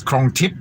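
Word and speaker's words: Krong Thip: or john thor sorry i say tour because in thailand when you see th it's actually a silent h uh um like the the for example the the cigarettes krong tip it's up but it's spelt krong tip thip t-h-i-p uh oh gosh my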